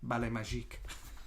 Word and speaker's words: Ballet Magique: Debbie Daniels has a ballet company at the time called Ballet Magic, but it's always pronounced Ballet Magique.